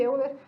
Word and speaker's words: Euler: Na verdade se escreve Euler, mas se fala Euler.